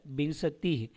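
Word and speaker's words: विंशतिः: जो है बिन सतीह इसका उच्चारण में ध्यान देंगे यहां पे व के ऊपर एक बिंदु है तो इसको न का उच्चारण करेंगे बिन बिन स तीह क्या हो जाएगा बिन बिन सतीह 20 के लिए क्या होगा बिनसतिह उसी तरीके से अब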